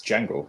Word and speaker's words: Django: I mean, you don't say the Django, it's Django without the D.